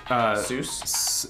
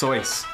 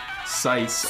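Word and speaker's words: Seuss: It's true, it is actually pronounced, Zeus? No, it's Soyce. Soyce? Yes. Sice or something. Don't change my childhood. It was actually, on Wikipedia it has a nice little thing. One of his friends actually made a poem about his name. It says, don't call him Zeus, you silly, it's Sice.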